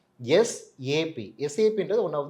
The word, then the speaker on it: SAP: நிறைய பேரு சாப் அப்படின்னு சொல்லுவாங்க. ஆனா ப்ராப்பரா ப்ரொனவுன்ஸ் பண்றது பார்த்தீங்கன்னா, எஸ்ஏபி.